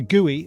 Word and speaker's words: GUI: Um, as we can see from the the look of it, the GUI or the Guey as people keep telling me I should pronounce it. Guey sounds weird.